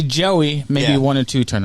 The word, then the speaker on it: Joey: Yeah, I have some that it's just a Joey, and they'll say Joy, Joy. It's like, no, it's not. It's Joey.